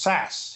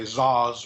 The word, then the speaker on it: Szasz: That's a Hungarian name, Szaszz, which he pronounced Sass. He told me it was like Saskatchewan, so Sass. Most people say Zaz or something like that.